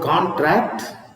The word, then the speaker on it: contract: and this is contract now when you read this word contract contract the stress is in the first syllable now what is mean